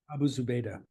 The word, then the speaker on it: Abu Zubaydah: Do you want to pronounce that even better than I did? Abu Zubaydah.